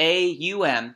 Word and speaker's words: Aum: spelled O-M, because Om, but the A-U-M kind of captures the length of it. If you said all of those letters, if you pronounce all those letters, you would get that longer sustaining Om of ah. So the Aum, that's really how it's intoned, and it's also a